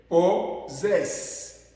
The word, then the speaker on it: possess: Possess. Retenez ça très bien s'il vous plaît. Possess. Et dans ce verbe ici, le premier S se prononce Z.